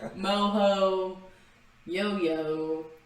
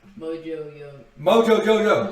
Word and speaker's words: Mojo Jojo: And so I walk in this tarp, and that Mojo Jojo, Moho, Yo-Yo. Okay, you know how to say it. Mojo Jojo.